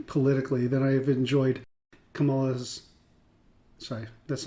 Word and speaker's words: Kamala: And I have liked Trump's history politically than I have enjoyed Kamala's sorry, that's not very respectful.